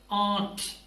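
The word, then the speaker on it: aren't: होता है आरट देखिए इट्स नॉट आरट पहले बता चुका हूं एक् प्रोडक्शन में कि आर जो है वो बहुत साइलेंट होगा म्यूट होगा सो दिस इज आट सो इसके बाद अगर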